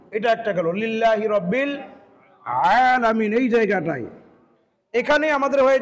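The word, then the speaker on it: العالمين: আমাদেরকে খেয়াল করতে হবে যে কি পড়তেছি আমি আলামিন আলামিন আলামিন আলামিন আলামিন আলামিন এটা হচ্ছে ভুল সঠিকটা কি আলামিন আইন কণ্ঠনাকে চাপ দিয়ে আলোকের মধ্যংশ থেকে উচ্চারণ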